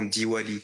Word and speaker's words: Diwali: Et dans les autres États, on entend Diwali, parce que ça s'écrit Diwali.